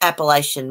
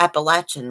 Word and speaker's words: Appalachian: Appalachian mountain girl see we don't call it Appalachian Mountains we call it the Appalachian Mountains here everybody mispronounces it but really here we call it the appellate Appalachian Mountains not Appalachian we say such different I